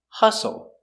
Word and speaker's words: hustle: open Sound a hassle Hustle the is silent the U makes the uh uh relaxed sound H hustle hostile and hostile sound